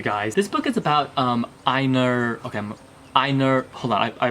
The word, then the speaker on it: Einar: This book is about Einar, okay, Einar, hold on, I wrote the phonetics on here so I can pronounce it correctly.